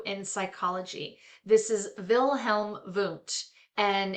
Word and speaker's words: Wundt: This is Wilhelm Wundt, and it's, you know, he was German, so the W is pronounced V, and he explored the structures of consciousness.